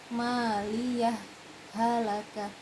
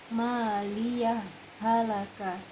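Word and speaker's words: مَالِيَهْ هَلَكَ: Berhenti di sini tanpa mengambil nafas, berarti bacanya maliyah halaka, maliyah halaka.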